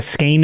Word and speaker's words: skein: a SK or yeah it's like a ske like a ske of yarn apparently right yeah so like ske beetles and scorpions and spiders SK Kei n so it's not Sky it's ske and it's that word